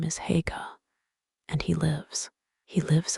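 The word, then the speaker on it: Haigha: His name is Hagga. He pronounced it so as to rhyme with mayor.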